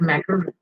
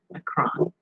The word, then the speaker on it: Macron: Leen so they got macaroon macaroon mcon say his name properly Emanuel mcon is uh